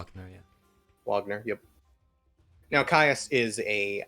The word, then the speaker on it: Wagner: __ ] no yeah wagner yep now caius is a uh roman name though wagner not wagner wagner they've not said the v yeah that's why uh